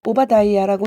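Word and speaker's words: Obadiah: 영어 성경은 오바다이아라고 읽는다.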